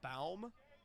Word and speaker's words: Baum: 79 off of the south pod hand of Baum. I hope I am pronouncing that right. It could be Bohm, but I'm assuming B-A Bow. Baum. B-A-U Bow. Like lip balm?